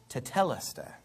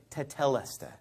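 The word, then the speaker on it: τετέλεσται: So I've heard these sermons where they say, well, if you go back to the Greek, the word is tetelestai. Now, I'm actually pronouncing it right.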